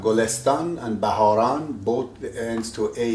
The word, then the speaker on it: گلستان: Sometimes it says gol setan, but in fact right now you can pronounce it in the right way.